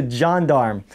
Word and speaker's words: gendarme: a protruding flat wall this here is a gendarme it's a john darm so basically that's the way it's spelled anyway uh but it's just